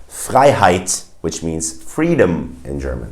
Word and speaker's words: Freiheit: If you see the combination of EI, it's pronounced I in German. For instance, in words like Freiheit, which means freedom in German.